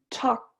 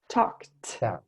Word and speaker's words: talked: kidding talk and some talked talked almost a t sound at the end yeah it's difficult the